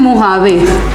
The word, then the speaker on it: Mojave: And Mojave, spelling you write M-A, it's not H, it's J. It is pronounced as Mojave but it is written as J, ठीक है.